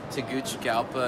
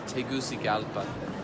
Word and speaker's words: Tegucigalpa: the factory is located yeah how do you pronounce it we get asked this yes well you'll hear things like Taguchi gala and you know things like that but it's Tegucigalpa yeah and it Ryan the brand new steak